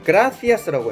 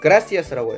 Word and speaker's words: gracias: 이게 감사합니다라는 뜻인데 스페인어에서는 이거를 gracias라고 해요. 그러니까 th 발음을 하죠. 근데 이제 대부분의 남미 국가에서는 이걸 gracias라고 해요. 그러니까 좀 약간 s 발음에 가깝게 하는 거죠.